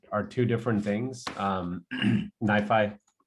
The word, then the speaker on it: NiFi: two different things um nifi at least that's that's how i pronounce it um so nifi is